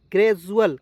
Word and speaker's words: gradual: Next देखिए, next देखते हैं GRADUAL, ग्रेजुअल। क्या पढ़ेंगे? डी का उच्चारण ज के रूप में भी यहाँ पे हुआ, ठीक है।